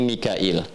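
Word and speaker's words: ميكائيل: Mikal itu riwayat Hafiz dari Asim. Di riwayat Qalun kemudian Warash dari Nafi' dibacanya Mikail. Ya, makanya kita bisa baca dengan Mikal ya atau Mikail.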